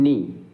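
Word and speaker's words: knee: तो आप जानते हैं इसमें जैसे के का उच्चारण नहीं हो रहा है, हम नी बोल रहे हैं, इसको क्या बोल पढ़ रहे हैं?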